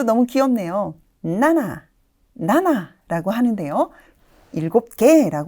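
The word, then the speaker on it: 七: 의미하는 7 7이라는 한자인데요네 음독은 CG cg라고 발음이 됩니다 어감이 비슷할까요 7 CG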